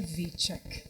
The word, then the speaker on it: Witczak: nome né É vitac É a pronúncia mesmo dele é vitak vitak é polonês polonês lituano é daquelas